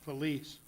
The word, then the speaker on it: Felix: item 23, known as, it's actually pronounced Lease. As far as in the area, because it's all similar to the Felice River. It's not really the Felix. It's actually, so just so people know, if you're from southern Chaves County, down there in that boot, that's where the Felice River is, which is spelled F-E-L-I-X.